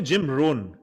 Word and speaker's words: Jim Rohn: Jim Rohn is one of the best speakers that you how can do you listen pronounce to. it? Jim Rohn.